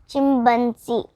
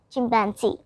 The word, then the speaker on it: chimpanzee: Wrong pronunciation, chimpanzee. Correct pronunciation, chimpanzee.